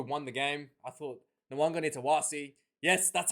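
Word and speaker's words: Nawaqanitawase: I thought Nwanga Nitawasi. Yes, that's how you pronounce his name, Sean Maloney.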